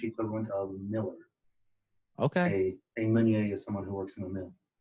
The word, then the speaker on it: Meunier: Meunier. Meunier. Where is that? What's the ethnicity of that? So it's a French last name, actually. In French, it's pronounced Meunier.